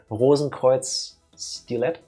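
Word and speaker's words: Rosenkreuzstilette: It's German words, so I do it the German way. Rosenkreuz Stilet, I don't know, is a kind of cuter version of a Mega Man clone, I guess.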